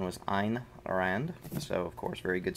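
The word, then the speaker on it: Ayn Rand: shrugged i was told that is the proper pronunciation was ein rand so of course very good stuff there but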